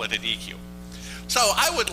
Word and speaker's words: deque: called a deque or dec. There's some discussion over how to actually pronounce this word. I call it a deque. A dec is something you have a barbecue on where I come from, damn it.